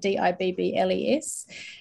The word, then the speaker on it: DIBELS: looks at Foundation reading pronounced Dibbles to rhyme with dribbles um which I found has resulted in lots of spelling mistakes spelling it d-i-b-b-l-e-s uh and also not